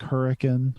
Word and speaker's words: Hurricane: know he's from Hurricane you have to say it like hurricane or people get mad at you um he knows the